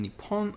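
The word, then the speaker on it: 日本: stronger p okay uh both nihon and nippon are common pronunciations of the word nihon uh you'll commonly hear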